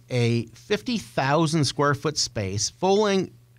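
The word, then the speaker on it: Fowling: 50,000 squ foot space fing rhymes with bowling it's a mash up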